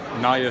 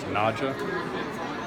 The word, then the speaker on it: Naja: Yes, this is known as Naja siamensis, often mispronounced as Naja, but it is Sanskrit.